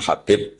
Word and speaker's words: Habib: Ada yang nulis Abi Abdurrahman Habib Asulami. Itu di harakatnya kitab itu ada yang nulis khubab. L yang benar. Oh, nggih. Yang benar itu bacanya habib.